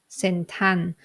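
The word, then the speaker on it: เซ็นทรัล: the word for example if I want to say the word Central in time pronunciation I would say sentan so we need to turn the r and the L ending into n Sound ending or no no ending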